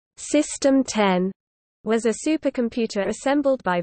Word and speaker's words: System X: system X pronounced system 10 was a supercomputer assembled by Virginia Tech's advanced